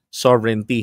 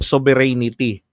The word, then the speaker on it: sovereignty: Sovere okay sovereign at saka yung tsaa sovereignty hindi po sovereanity yung iba abogado na sovereanity pa bigkas.